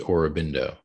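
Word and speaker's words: Aurobindo: influential figures for kenwood i think it's pronounced orobindo oh sorry well shows you my ignorance that's okay orbindo yeah he's a big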